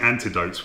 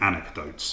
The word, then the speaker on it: anecdotes: careful with this because I keep mispronouncing it I keep saying antidotes when I mean anecdotes anecdotes stories I recall